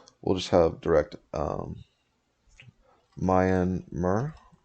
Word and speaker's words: Myanmar: just have direct um mayan mer right that's how you pronounce it mar number mar myanmar